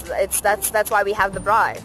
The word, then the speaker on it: braai: That's why we have the braai.